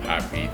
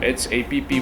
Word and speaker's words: HAPEE: So I changed the spelling from HAPPY to HAPEE. Since if you pronounce the word, it's basically the same pronunciation as happy.